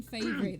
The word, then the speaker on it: Fabry: favorite i'm so sorry i've been pronouncing your name wrong all these guys everybody says my name plain favorite there you go and it's with two